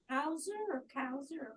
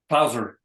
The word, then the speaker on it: Clauser: Kauser, what's his name? Clauser. Spell it.